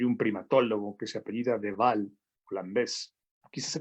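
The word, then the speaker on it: de Waal: monos capuchinos hay un primatólogo que se apellida de val plan ves aquí se pronuncia da igual es igual porque es con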